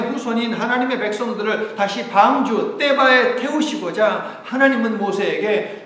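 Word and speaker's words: תֵּבָה: 떼바.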